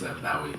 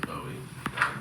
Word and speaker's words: Bowie: It's Bowie. Bowie. Yeah, Bowie. Everyone says Bowie.